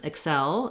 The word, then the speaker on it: excel: in your everyday speech first of all excel the verb has second syllable stress similar to um there's